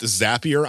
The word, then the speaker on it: Zapier: automation software which by the way uh it's pronounced zapier I know it's written like zapier and a